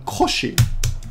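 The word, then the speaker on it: 腰: It's because I often, this last kanji here is actually pronounced alone koshi. This alone is koshi, which is your back, right?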